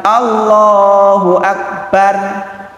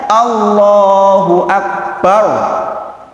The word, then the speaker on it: Allahu Akbar: Maka dibacanya bukan Allahu Akbar, bar, bukan. Harusnya Allahu Akbar, tebal.